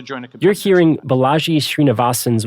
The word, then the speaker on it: Balaji: Valley CEO type balai uh I'm sure mispronouncing this bully srinivasan it's Balaji srinivasan Balaji perfect thank you for thank